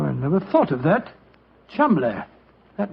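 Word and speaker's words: Cholmondeley: Being an American, he had no reason to know that the name Chumley is in no way pronounced the way it is spelled. Joe, I never thought of that. Chumley.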